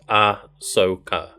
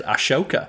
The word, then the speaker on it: Ahsoka: h on it but it's AHS so it's ah Soca I think I say I've always read it as Ashoka well that's my bad then that shows how